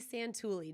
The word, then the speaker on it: Santulli: This is Izzy Santulli. Did I say it right? Yes.